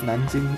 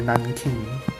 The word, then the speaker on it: Nanjing: one which would be the battle of nanjing or nan king as the most of the west would pronounce it so a bit